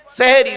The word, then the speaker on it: সাহারি: দন্তের একাদ দেন তাইতো কিন্তু শব্দটা সেহেরি নয় শব্দটা সাহারি আচ্ছা সেহেরি আর সাহারির পার্থক্যটা কি সেহেরুন মানে হলো জাদু করা সিনে জের দিলেন সিনে জের দিলে মানে হবে জাদু করা কোরআনে আছে আর সিনে জবর দিলে মানে সাহারুন মানে হলো দন্তশয় আকার সাহারুন মানে হচ্ছে রাতের শেষ অংশের খাবারকে আরবিতে সাহারি বলে সেহরি নয় কিন্তু দুর্ভাগ্যের বিষয় কি